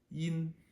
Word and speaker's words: yin: and squish it so it becomes Yin you'll hear it it feels kind of very quick and kind of clippy Yin okay now we